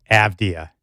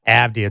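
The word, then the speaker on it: Avdija: Everybody outside of Portland who's tried to say Denny Avdia over the last 24 to 48 hours has done a bad job. AIA. It's not Avdia, it's Avdia.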